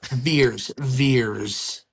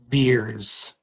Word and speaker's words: Vers: Or Vers. You know? Yeah. So. The Vers Initiative. Veers. It's pronounced Veers.